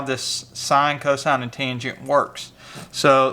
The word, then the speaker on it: sin: en still pronounced tangent sine abbreviate SI n still pronounced sine and cosine abbreviated cos